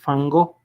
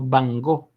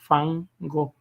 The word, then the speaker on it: Van Gogh: Es Van Gogh. Esa es la manera correcta de pronunciarlo. Entonces, estos personajes, dígame. Perdón que lo interrumpa, no, pero solo quería que se me podía recordar el por qué es fan y no van.